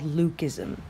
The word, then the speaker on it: leucism: about today is called Luc ISM now first of all the spelling of Luc ISM is not agreed upon le you see or Ellie UK but it is pronounced Luc like Luke I am your father